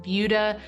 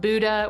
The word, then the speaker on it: Buda: And yes, it is pronounced Buda, not Buddha, which many people say, so just a little friendly FYI.